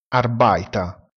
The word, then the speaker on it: Arbeiter: Lavoratore, Arbeiter, si pronuncia Arbeiter. La lettera E seguita dalla lettera I si pronuncia AI. Utilizziamo sempre il sostantivo lavoratore, Arbeiter, si pronuncia Arbeiter.